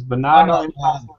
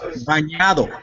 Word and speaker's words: bañado: No, it's bañado. Bañado. Bañado en salsa de guacamole. That means that it's swimming in that sauce, man. Yeah. That means it's sauteed. Bañado. The end's pronounced with more like a Y. Yeah, I'm sorry. Yeah, because it's the ñ.